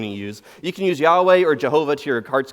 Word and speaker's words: Yahweh: Old Testament a lot sometimes we refer to it as Yahweh that's probably a more faithful way to pronounce the Hebrew but over the years